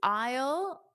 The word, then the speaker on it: aisle: Uh we wouldn't use an number, you would use aisle and then just the number five.